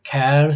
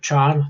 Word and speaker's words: char: Some people pronounce char, some char. For me it's easier to say char, followed by the name of a variable, in this case letter.